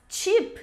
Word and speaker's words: cheap: Então lembra, quando palavras começarem com CH, vai ter esse som mais forte, como se tivesse um T antes.